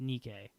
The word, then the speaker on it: Nike: And he says, spelled like Nike, but it's pronounced Nikkei.